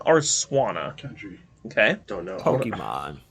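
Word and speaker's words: Swanna: water flying type essentially I threw you guys by pronouncing it SW but it's really swana because it's a swan what gen seven two I'm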